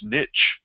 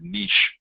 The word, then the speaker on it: niche: specialized job sites are also known as niche or some people pronounce that word niche well when that means